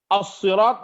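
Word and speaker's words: الصراط: dan Kisai, beliau-beliau ini menganut cara baca as-sirat menggunakan sad, sehingga dibaca ihdinas siratal mustaqim pakai sad. Ada lagi qiraat yang berbeda menggunakan sin. Wa qara'a as-sirat, jadi enteng dia. Ihdinas siratal pakai sin.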